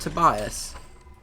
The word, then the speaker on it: Tobias: have tobas tobusk Beckett Tobias is it to bias it is Tobias yeah uh next we